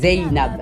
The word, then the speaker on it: Zeynab: Ah non, ça se dit Zainab ou bien Zainab? C'est Zainab. Donc il faut forcément dire le Y. Donc je prononce bien.